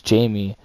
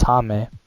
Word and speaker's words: Jaime: His name is actually pronounced Jaime Jaquez Jr., and that's an interesting way to pronounce his name. I thought it was Jamie Jaquez Jr., but it's Jaime.